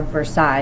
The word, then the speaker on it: Versailles: Palace of Versailles where or a Versailles is how you say it here is where the